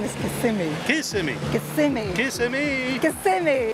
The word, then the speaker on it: Kissimmee: Actually, the correct pronunciation is Kissimmee.